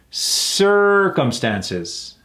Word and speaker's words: circumstances: lot of my clients circumstances how many syllables circumstances four right putting emphasis on the ER circumstances a fact or condition